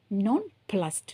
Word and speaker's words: nonplussed: nonplussed நான் எப்படி உச்சரிக்கிறேன்னு பாருங்கள். அங்கே இடி போட்டிருந்தா கூட நான் வந்து டி சவுண்டு தான் கொடுக்குறேன். நான் ப்ளஸ்ஸடு சொல்லலை, நான் ப்ளஸ்டு சொல்லலை, நான் ப்ளஸ்ஸடு சொல்லலை.